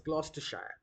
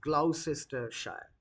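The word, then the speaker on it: Gloucestershire: it is pronounced as Glostershshire not as as Glausister Shire. So the pronunciation is a bit uh different from the spelling that you see here.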